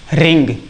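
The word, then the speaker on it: wring: ये डब्लू है। डब्लू नहीं बोला जाएगा। इसको हम रिंग ही पढ़ेंगे। क्या पढ़ेंगे? रिंग पढ़ेंगे। ये डब्लू को बोला नहीं जाएगा और अगर इसी डब्लू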